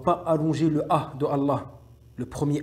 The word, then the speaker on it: Allah: Deuxième point, on ne doit pas allonger le A de Allah, le premier A, le premier A de Allah. On ne doit pas l'allonger.